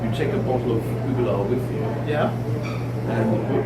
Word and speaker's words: Uigeadail: So that's the origin of the word Uigeadail, and it's spelled, rather curiously UIG, but it's Uigeadail. You gotta remember that with Uigeadail, not Uigeadail, which I'm guilty of saying.